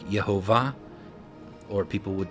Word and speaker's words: Yahweh: sound came from, like Yehovah, or people would say Yahweh. That W sound is the U, but the U coming after the Hey, you get the Yahweh W sound, and I'll show you that here in just a second.